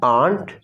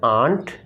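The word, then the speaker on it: aren't: इसकी जो प्रोनाउंसिएशन है वो है आंट और आंट। ब्रिटिश इंग्लिश में आप कहते हैं आंट और अमेरिकन इंग्लिश में आप कहते हैं आंट, यानी हल्का सा र साउंड ब्रिटिश इंग्लिश में।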